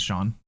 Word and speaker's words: Sean: So, you could just pronounce that as Shawn.